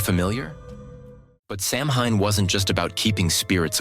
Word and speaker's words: Samhain: Halloween actually goes back to an ancient Celtic festival called Samhain (pronounced “Sow-in”), celebrated mainly in what is now Ireland, the UK, and northern France.